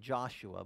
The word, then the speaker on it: Yahshua: he had a name yahshua we pronounce it Joshua but it's really in Hebrew yeah for a